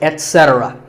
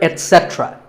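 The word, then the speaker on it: et cetera: A very common incorrect pronunciation is to say ek, etc. instead of et. Don't say that. And also remember that the stress is on se. So the word is etc. You will also hear etc. That is less common, but it's okay too.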